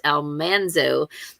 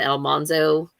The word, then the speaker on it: Almanzo: reminded me last year that almanzo's name is pronounced almanzo not almanzo like they did it in the